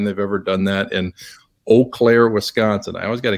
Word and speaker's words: Eau Claire: there but it's uh it's eau claire so make sure you say it right they get very is it spelled is that why it's spelled e-a-u yeah it's weird it's wisconsin oh like in bow or uh you right something like that but anyway um yeah